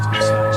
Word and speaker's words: Versace: It's a Versace. It's Versace. What? Versace. It's pronounced Versace.